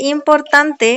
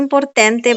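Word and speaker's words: importante: mute আচ্ছা তারপর হচ্ছে ইম্পর্তান্তে অনেকে বলে ইম্পর্টেন্তে ইম্পর্টেন্টে এরকম বলে এটা এটা এরকম হবে না আমরা ভুলে যাই যে ইম্পর্টেন্ট বলে একটা শব্দ আছে ইংলিশে আচ্ছা তাহলে ইম্পর্টান্তে তারপরেরটা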